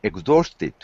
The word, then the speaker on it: exhausted: Notice we've got more than one way to pronounce the past tense. Exhausted is an adjective, and it's also the form of the past tense. If there's a T, we have to say tid.